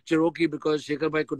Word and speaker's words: Cherokee: So I said, sir, thoda classic karte hain, Cherokee karte hain, Jeep Cherokee. So he could never pronounce Cherokee. He would say Sharuki.